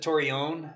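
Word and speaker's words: Torreon: so we pronounce it torion t that's like the more the Spanish pronunciation there's actually a town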